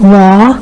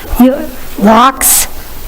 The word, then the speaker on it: Locks: Am I pronouncing that correctly? Ross? Locks? Locks? As in you lock a door? Goldilocks, got it. Normally in French, which this looks like it's a French name, you don't pronounce that X?